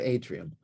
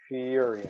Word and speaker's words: Ethereum: hang on, I got Atrium. E, Ether, ETH, Yes, it is. Atrium. Ethereum, not TE.